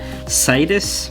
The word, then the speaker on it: Cyetus: This is a Cyetus, I think that's how you pronounce that, Cyetus, and the thing that makes me nervous is right here, it says made for tasty hobby.